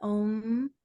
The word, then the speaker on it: Om: it's quick so okay and the M syllables really important because that's mahadeva that's where the energy goes inward so we want to hold the M the OM we want the we om we want the vibration this is really important